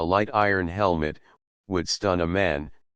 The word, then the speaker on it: Oman: iron helmet would stun a man says La Roi a 19 Oman which the natives pronounce Aman is the region best